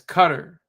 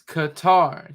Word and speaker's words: Qatar: You keep mispronouncing it as cutter. It's Qatar. Just a a quick Google reference and you'll have the moving the lips that show show you what it looks like. And that if you have the sound on it, it'll have the sound and let you know it's Car.